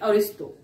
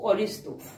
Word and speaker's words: Ariosto: है, बट यू can just right it like अरिस्टो. Okay, the spelling is ARIOSTO, अरिस्टो. Clear? ARIOSTO, Aristo.